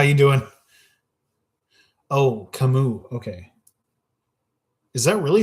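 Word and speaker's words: Camus: Oh, Kamu. Okay. Is that really how you pronounce that name? Interesting. I had no idea. Now I know. For anybody who doesn't know, Albert Camas is pronounced kamu.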